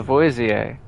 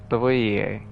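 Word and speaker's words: Lavoisier: I don't I don't know if you pronounce the S or not. Kellyostro, seize him. Charalstro, may you burn in hell. Uh, that looks a whole lot bigger than the one that I have fought. Antoan Leavoier Lavoier again has fallen. Oh, you do pronounce the S.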